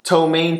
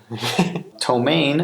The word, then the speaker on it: ptomaine: with the chili tank ptomaine is spelled P T oh ma I and eat because silly no no wait what are you telling me Greg there's a P and there were ptomaine that was like 24